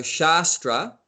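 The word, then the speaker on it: शास्त्र: two words in sanskrit one has a long a one is a short a so shastra which is the scripture and shastra which means weapon so it's basically the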